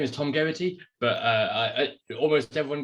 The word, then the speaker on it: Geraghty: yeah and by the way yeah so it's pronounced so my name is tom garrity but uh i almost everyone gets to get